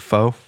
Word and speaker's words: pho: Is it pho?